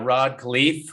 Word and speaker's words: Rod Khleif: well but i have a special guest uh rod khalif with me is that the correct pronunciation yep yep yep thank you yes good